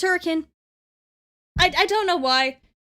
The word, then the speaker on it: Hurricane: Utah Hurricane Utah actually and also it is pronounced hurricane not hurricane this is a common misconception I made that